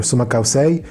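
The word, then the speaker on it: Sumak Kawsay: It originated from the indigenous peoples of Ecuador, and in their original language it's Sumakausei or Sumakausei. It's spelled Sumak, S-U-M-A-K, and Kausei, K-A-W-S-A-Y. I think, and I mean that's how it is pronounced and spelled, I think.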